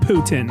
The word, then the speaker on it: Poutine: Poutine. And if I'm honest, it doesn't look too appetizing in the photo. And yes, I know it's pronounced Putin.